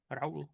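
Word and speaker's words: Raoul: How do you pronounce R A O L R. R. Yeah. Raul.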